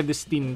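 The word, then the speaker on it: Vredestein: vestin hep he he vestin daw iyan ang pronunciation diyan nagsimula ang tire brand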